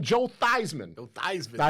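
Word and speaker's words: Theismann: what I'm saying Joe thyman Jo thyman now his name was Joe thesman in college but he was trying to promote himself for the Heisman so he switched the pronunciation of thyman yeah he didn't win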